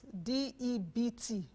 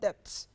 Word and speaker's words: debt: terms what is debt d e bt pronounced as debt not debts debts what is a debt